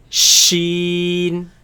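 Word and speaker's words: شين: yeah it's pronounced it shiiin shiiin shiiin shiiin shiiin shiiin now this comes from the middle of the tongue against the middle of the upper palate now if you remember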